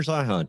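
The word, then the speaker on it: Zeihan: I want to really throw out there, Peter Zion or Zian. I don't know how to pronounce his last name. Peter Zihan.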